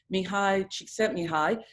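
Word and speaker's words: Mihaly Csikszentmihalyi: And if you've ever heard of the theory by, and I'm not Hungarian, so maybe pronouncing this wrong, but I think it's right, Mihai Csikszentmihalyi, he talks about the theory of flow.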